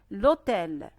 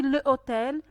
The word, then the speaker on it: hôtel: Le H est muet mais je fais la liaison. Par exemple, l'hôtel. On n'a pas dit le hôtel, on a supprimé le